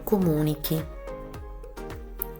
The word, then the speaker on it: comunichi: which has a peculiarity: in front of the -i it adds an H to make sure that the sound of C remains hard C and not soft Ci It there wasn't H, you would read "tu comunici", instead you read io comunico, tu comunichi, comunica, comunichiamo, comunicate, comunicano Comunicare, in